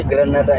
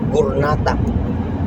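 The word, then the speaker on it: غرناطة: Dili na Granada ilang pagbigkas na. Ano? Gurnata. Ah, Gurnata.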